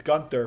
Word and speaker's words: Gunther: I don't know how to pronounce his Yeah, name, you got it. but It's Gunther.